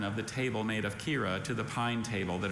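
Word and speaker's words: quira: Melinda preferred the pretty grain pattern of the table made of Kira to the pine table that her parents liked. Kira. Are there any alternate pronunciations?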